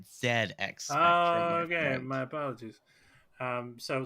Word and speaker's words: ZX Spectrum: Okay, that is a British computer, so you pronounce it ZX Spectrum.